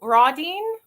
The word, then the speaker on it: Rodine: I think Rodine.